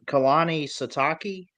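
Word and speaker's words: Kalani Sitake: Kehani Satake.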